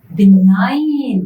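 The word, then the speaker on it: benign: इज the opposite of बिनाइन बिनाइन मतलब अच्छा और मलाइन मतलब खराब सो लिगने और बनाइट और बनिग बनाइट जी silent so these are opposite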